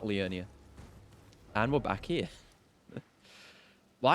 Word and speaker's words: Liurnia: of lyanna a leonia i always say it wrong i i've actually been pretty good about it today but i always think it's leona and not leonia and we're back here